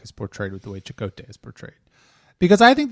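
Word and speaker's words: Chakotay: an idiot well yeah chot was so chakote was I'm sorry it's pronounced chakote shako was a um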